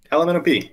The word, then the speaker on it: Ellomenop: Yeah, Ellomenop, like the alphabet.